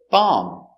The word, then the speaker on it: bomb: honey very good example bomb remember no bee no bomb just bomb bomb is countable this